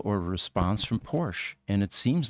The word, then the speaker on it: Porsche: And that's why most people here now, put that E at the end, Porsche, rather than just Porsche.